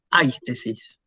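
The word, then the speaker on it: αἴσθησις: Fíjense, el acento y el espíritu están ubicados sobre un diptongo. Se escribe en el segundo elemento, se pronuncia en el primero. Entonces yo por eso digo aistesis.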